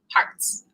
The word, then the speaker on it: Harz: named after my father hearts pronounced like multiple hearts and so uh my